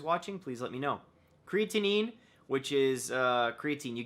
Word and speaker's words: creatinine: uh glucose levels and creatinine I believe that's how you say it creatine creatinine so sodium perfect and my